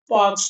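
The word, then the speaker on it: Palk: तो उसका नाम है पाक ट्रे। ठीक है? अब ये सबसे कंफ्यूजन इसलिए रहता है कि भाई पी ए एल के है लेकिन प्रोनाउंस इसको करते हैं पाक।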